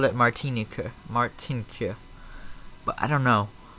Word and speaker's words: Martinique: Blue tag welcome to the stream bro it's pronounced martinic right okay thank you Iberia 737 always I